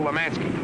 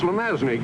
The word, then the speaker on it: Lemanski: knock off i mean kill lemanski he's pronounced lemazny cubes at your age